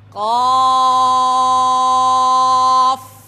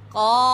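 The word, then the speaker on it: ق: আমরা এখানে দেখতে পেরেছি উচ্চারণগতভাবে এই হরফটিও মোটা হবে। আমরা আগেও মোটা হরফ উচ্চারণ করেছিলাম, এখনও আমি আপনাদেরকে আবারও জানিয়ে দিচ্ছি, মোটা করে উচ্চারণ করতে হবে। অনেকে ঠোঁট গোল করে মোটা করে, না, জিহ্বার সাহায্যে হরফগুলি মোটা হবে, ঠোঁটের মাধ্যমে নয়।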